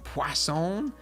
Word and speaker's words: Poisson: Poisson? There's no W in it, but I was told that that's how you say it. I guess it's French.